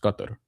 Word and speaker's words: Qatar: The FIBA World Cup is going to be next year in Qatar, which I believe is pronounced Qatar, actually.